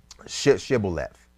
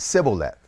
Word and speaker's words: Shibboleth: He asked him to say Shibboleth, and they said Sibboleth, and those are two different words.